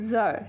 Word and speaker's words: tsar: এখানে একটি শব্দ এসেছে জার, TSAR, উচ্চারণ হবে জার।